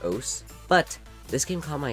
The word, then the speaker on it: osu!: Oahs is a rhythm game. I don't know why it's called Oahs or why it's pronounced Oahs, but this game caught my attention because I absolutely adore its user interface design.